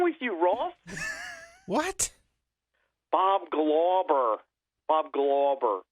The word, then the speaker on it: Glauber: Yeah, Glauber. Glauber. You say Glauber.